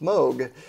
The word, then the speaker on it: Moog: people do because it's two o's but it's pronounced moog this is one of their newer semi-modular rigs